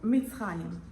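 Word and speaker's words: מצרים: say Egypt shipped in Hebrew it's called mitim mit mit even now nowadays if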